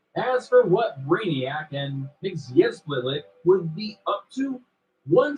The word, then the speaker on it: Mxyzptlk: Mxyzptlk, Who? that's how it's pronounced, as primary villains.